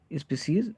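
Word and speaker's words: species: तो ये ध्यान रखिएगा, पुरानी स्पीसीज, यहाँ पे स्पीसीज की डेफिनेशन गलत, मतलब स्पेलिंग गलत है, तो वो क्या हो जाएगी? स्पीसीज, इसको हम बोलते हैं।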